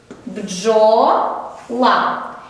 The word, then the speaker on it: бджола: Звук дж ми знаємо 2 літери, але тільки один звук.